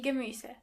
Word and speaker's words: Gemüse: Vegetables in general means die Gemüse. Die Gemüse. Try to practice the pronunciation of this word a couple of times to make sure you are pronouncing the umlaut correctly.